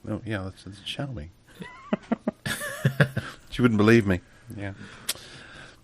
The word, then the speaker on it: Xiaomi: just bought a new phone but she can't pronounce the name of it begins with an a it's like sh me and she goes no no no it it begins with an X like oh yeah sh me she wouldn't believe me yeah but uh yeah